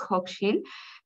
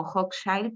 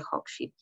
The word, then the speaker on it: Hochschild: Sobre Hochschild, sí me gustaría igual como aprovechar la oportunidad para comentarles la pronunciación de nuestro nombre, es Hochschild. Sé que en la feria virtual sale como Hochschild, pero es justamente por el desarrollo de la